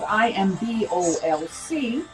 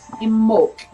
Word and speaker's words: Imbolc: Now it's spelled IMBOLC, but it is said in the Gaelic way, Imbolc, Imbolc.